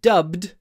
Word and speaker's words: dubbed: this film is is dubbed into Russian with dubbed the challenge is to pronounce to make them both voiced don't say d dubbed dub dubbed it's dubed dubbed into Russian the next